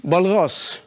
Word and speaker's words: Walras: Walras, and his name is pronounced that way because he came from Switzerland.